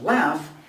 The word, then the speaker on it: laugh: the final letter so if we have a word like laugh even though it ends in a gh the sound is actually an f sound so it's just like surf and here the pronunciation